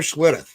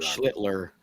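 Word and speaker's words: Schlittler: I went with Cam Schlitter. Um I thought he had a really good and I know I pronounced that wrong, didn't I? Rob Schlitler. Schlitler.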